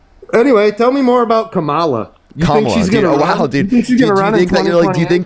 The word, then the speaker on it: Kamala: It's literally It's literally You purposefully miss It's purposefully mispronouncing your name. That's just how I say it. That's how I identify. I identify as saying Camala and not Camela. Kamla.